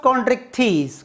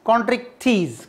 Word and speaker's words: Chondrichthyes: Class Chondrichthyes, cartilage fishes. How to pronounce Chondrichthyes?